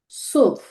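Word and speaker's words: zwölf: নুল, আইন্স, সোয়াই, দ্রাই, ফিয়া, ফুনফ, জেক্স, জিভেন, আট, নয়, সেন, এলফ, সোলফ। আশা করছি সবাই উচ্চারণগুলো শুনতে পেয়েছেন।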